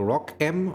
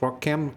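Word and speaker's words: ROCm: is part of the rock M or I think it's called or pronounced Rock cam solution the open source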